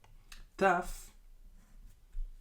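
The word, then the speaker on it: ת: and this is tuff tuff is like the English T pronounced too tough T let's put these letters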